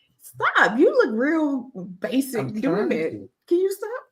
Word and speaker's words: Bachik: I know you're look when you see this name you're gonna be like that's not basic but I'm telling you I didn't pronounce this wrong all right Brandon you